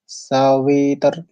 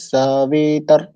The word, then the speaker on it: সবিতর্: দেওয়া পরবর্তীতে সাবিতার সাবিতার এখানে সাবি অন্তস্থ যে বাকার আছে তার সাথে যে ইকার আছে হ্রস্ফা ইকার আছে এখানে দীর্ঘ ইকার নেই তো কেউ যদি এখানে উচ্চারণ আমরা করি সাবিতার তো এখানে দীর্ঘ করা এটা অনুচিত হবে এটা অশুদ্ধ উচ্চারণ হবে তো সাবি হ্রাস ইকার